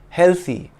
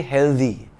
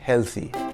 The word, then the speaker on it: healthy: wealthy do note that the correct way to pronounce the word healthy is with the th sound in thing healthy but many Indians say healthy with the th sound in the it should be healthy here is a contribution